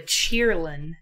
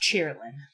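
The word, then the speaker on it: Qilin: Yes, but it's in a different language, so the Q is pronounced in the English word as a ch sound.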